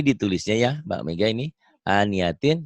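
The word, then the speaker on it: آنية: Aniatin dibacanya jadi ania. Tak marbutohnya jadi ha ya. Aniatin ania. Ya, baca.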